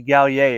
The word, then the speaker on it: Gallier: uh gallier yeah gallier yeah that's where I pronounce that interesting name yeah French ish yeah it's actually gal yay if you're gonna if we're like correct we're really gonna get French so tell me about